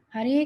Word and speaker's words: Hare: Hare Krishna, Krishna Krishna, Hare Hare, Hare Rama, Rama Rama, Hare Hare. The words Hare pronounced Ha-re, Krishna pronounced Krishna, and Rama rhymes with drama are Sanskrit words.